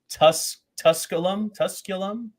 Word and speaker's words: Tusculum: Where, how do you pronounce it? Tusculum.